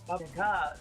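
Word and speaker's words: Баба-яга: Yeah, my Russian teacher taught me it's Baba Yaga, so that's how I pronounce it now. Round 1. Because the stress is important.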